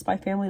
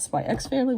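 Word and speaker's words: Spy × Family: Yor from Spy Family, which I believe is actually pronounced Spy Family, not Spy X Family, which is how I used to say it.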